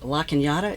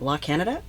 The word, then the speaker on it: La Cañada: And they were pronounced much differently than I was used to. Like La Cañada is not La Canada.